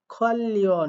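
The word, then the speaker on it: 관련: খোয়াল Leone এখানে দেখেন এই নিউন বাতিমের পরে রিউল থাকার কারণে দুইটার উচ্চারণ মিলে লয় লয় হইছে শুধু এমনটাই না নিচে রিউল উপরে নিউন সেক্ষেত্রেও লয় লয় হয় আবার নিচে রিউল উপরেও রিউল সেক্ষেত্রেও লয় লয় হয় তিন ক্ষেত্রেই লয় লয় হয় তাই এটার উচ্চারণ হবে খল্লিন সম্পর্কিত নালচা মানে তারিখ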